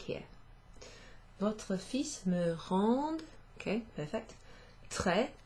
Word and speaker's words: fils: This one is fils, fils, to rhyme with fleece, okay, but without the L, fils.